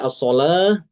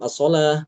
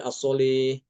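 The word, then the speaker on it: الصلاة: Seperti kata as-sholah, dia tetap as-sholah, tidak boleh as-sholih, tidak boleh, ya.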